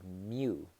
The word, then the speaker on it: mu: and the Greek symbol is called the mu my oo if you wanted to spell it out mu and so micro